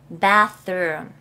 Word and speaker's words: bath: 똥 살 수가 없어요 bath 다시 한번 bath 자 th 발음 보세요 bath bath 좀 가까이